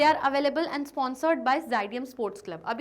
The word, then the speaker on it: Xydium: यहाँ पे x silent है तो यहाँ पे उसका प्रोनाउंसिएशन है ज़ाइडियम। सर कहते हैं लेट मी क्लैरिफाई, मैं आप लोगों को क्लियर कर दूँ कि जो स्पेलिंग है वो है XYDIUM, दैट मीन्स ज़ाइडियम। ओके, तो रिफ्रेशमेंट्स कौन देने